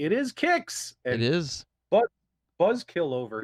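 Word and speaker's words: Qix: on this episode full reveal guys i did pronounce it correctly it is kicks it is but buzzkill over here was pronouncing it quicks yeah it's the pennsylvania dutch i mean what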